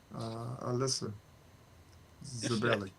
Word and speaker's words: Alyssa Zabelli: So shout out to Alyssa Zabelli. Is that how you say her name? Sure. Yes, that's perfect pronunciation.